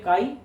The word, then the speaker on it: chi: मैं लिख दिया हिंदी में भी काई, इसका प्रोनाउंसिएशन क्या करते हैं?